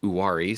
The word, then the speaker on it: Uwharrie: One of the teams in the Blue Ridge League is this Uwharrie Wampus Cats, who I learned from Greg how to pronounce Uwharrie.